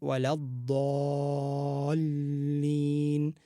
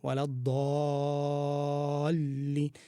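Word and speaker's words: الضَّالِّينَ: pronunciation of this word, because it is a dad. The dad is the most difficult letter to pronounce, and then on top of it, it's followed by a mad وَلَضَّالِّينَ, and then you have to go straight into the lam after that.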